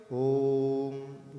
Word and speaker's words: ॐ: अ ओम जय हो ओम इस का सही उच्चारण यही है कि हम क्या बोलते हैं ओम जिसका सही वितरण नही है का सही उच्चारण क्या है और आ उ और म कि तुम क्यों कहा